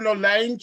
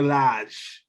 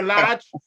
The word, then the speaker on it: Lage: Bruno Lange or whatever. No, it's Bruno Lage. Bruno Lage.